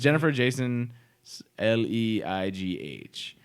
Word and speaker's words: Jennifer Jason Leigh: movie, and it is gonna have Natalie Portman, Jennifer Jason Leigh. Hello? Hey, or Leigh? Jason Leigh? I don't know what that I is. think they just It's pronounced Jennifer Jason Leigh.